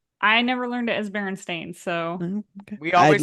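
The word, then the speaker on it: Berenstain: last name is it Baron Stein or is it Baron stain I don't know I just know it is Baron stain but I think I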